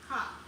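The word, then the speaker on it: כף: In Hebrew, palm is pronounced kaf.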